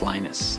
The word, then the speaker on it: Linus: speak finnish it's linos when i speak english it's linus and i really don't